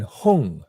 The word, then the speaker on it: Hong: And then Hong is also a N-G nasal sound.